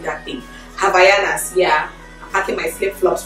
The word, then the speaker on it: Havaianas: I keep mispronouncing that thing. Havaianas, yeah.